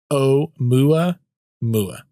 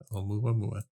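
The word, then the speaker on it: Oumuamua: This is how it says you're supposed to say it. O mua mua. O mua mua. Yeah, I wasn't anywhere close.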